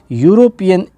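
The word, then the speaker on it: European: तो देखिए यूरोपियन में उच्चारण में य आ रहा है।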